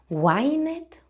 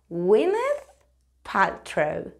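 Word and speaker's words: Gwyneth Paltrow: aquí tiene su nombre Cómo se pronuncia esto winet winet Bueno pues es muchísimo más fácil de lo que te piensas se dice winth ptro winth ptro chao winth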